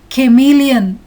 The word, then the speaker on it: chameleon: Chameleon. The CH syllable is pronounced as k, k.